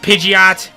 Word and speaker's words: Pidgeot: evolve by then pitching it i know it's pronounced pidgeot but i've heard in some cases in the